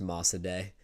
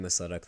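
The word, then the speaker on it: Mosaddegh: It's pronounced ma day and I was saying Masudak the whole time but oh well we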